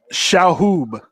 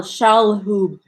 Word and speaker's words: Shalhoub: Shahoob. There's an L. Shalhoub.